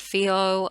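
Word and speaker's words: Fehu: So fihu, or I pronounce it Fio. I do pronounce the runes slightly differently to how they're typically pronounced or written.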